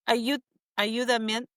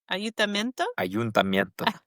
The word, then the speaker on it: ayuntamiento: A Spanish word that you still are pronouncing wrong. I can't even say it right now. It's the main plaza. Ayudamiento. Ayuntamiento.